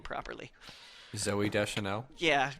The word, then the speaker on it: Zooey: Zooey Deschanel. Yeah, is it just Zoe? I'm pretty sure.